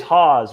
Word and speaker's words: HAAWWS: know it's pronounced um it's pronounced like h-a-z I've heard people even